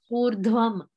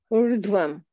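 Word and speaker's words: ऊर्ध्वम्: The ver needs to be prominent. Ver. The ver syllable. Urdhvam. Urdhvam.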